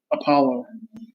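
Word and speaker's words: Opolo: let's do you mean opelo the hardware wallet okay because that's gonna fall into the same categorization as uh as ledger it's funny it's spelled o-p-o-l-o but it's actually apollo okay when exodus um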